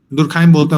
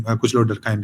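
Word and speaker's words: Durkheim: दुरखाइम ने hypothesis formulate किया था बहुत पहले, आज से दुरखाइम बोलते हैं उसको, स्पेलिंग दुरखीम टाइप से लिखा जाता है, डरखाइम, कुछ लोग डरखाइम भी बोलते हैं.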